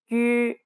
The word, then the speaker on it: 于: 于居去是 This sound doesn't exist in English, but it's similar to the U in the word menu. First, try saying an E like see. Now try rounding your lips while pronouncing this sound.